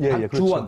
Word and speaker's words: 박주원: 박주원, 박주원. 그렇죠. 발음 잘하셔야 됩니다. 박주원입니다. 수교적으로 이렇게 했어요. 박지원은 계란 박지원이고, 계란 박지원 선생이고, 박주원은 박주현도 있습니다.